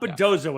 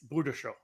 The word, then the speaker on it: Bujdoso: So, hey, David, it's not Bujdoso anymore. I say it that way. We've been corrected. It's Bujdoso. Or something close to that.